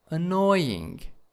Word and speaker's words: annoying: first syllable and then annoying annoying in the second slope syllable and next one is